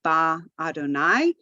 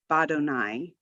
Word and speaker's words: badonai: syllable to it so we don't say ba Adonai you say badonai la plus Adonai is